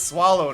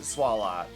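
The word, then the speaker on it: Swalot: That feels like its name is swallow to me. I get why people would say would say swallot and I don't disagree with it, but to me that's swallow. A silent T works perfectly there.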